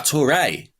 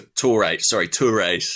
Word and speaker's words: Touré: Hip hip to rhyme with hip hip hooray for Yaya Touré.